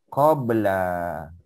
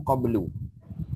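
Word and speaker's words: قبل: Qabla. Qabla. Biasanya dibaca qabla. Kadang-kadang qablu. Ya, kadang-kadang qablu. Tapi biasanya qabla. Ini ada dua cara baca, ya. Boleh tak baca qabli? Boleh kalau ada min depan dia.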